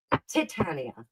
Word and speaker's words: Titania: Titania is how you say that. Titania. Titania? Yes, Titania. It sounds different. Because you put the emphasis on the tit.